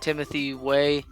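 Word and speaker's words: Timothy Weah: I got Timothy Way. That's how you pronounce his name and stuff like that.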